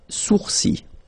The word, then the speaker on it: sourcils: Okay, so it's quite strange because you get this LS at the end, but then, well, you don't pronounce them. Les sourcils.